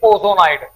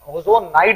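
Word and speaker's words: ozonide: ये आपका बन चुका है, इट इज ओजोनाइड।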